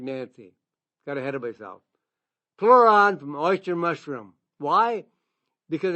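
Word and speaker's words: Pleuran: There's an extract called pluron from oyster mushrooms.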